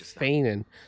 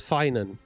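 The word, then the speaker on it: Phainon: from ID Alisia finan so that's how you say it's not fan it's finan that's an unusual name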